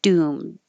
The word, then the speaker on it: doomed: You won't hear the D. You'll just hear doomed.